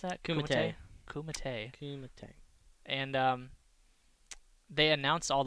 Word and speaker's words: Kumite: but it's the Red Bull, how do you pronounce that? Kumite.